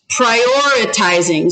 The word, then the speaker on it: prioritizing: So now listen for the accent. Tell me where you hear the accent. Prioritizing. Prioritizing. Which syllable is it on? 1, 2, 3.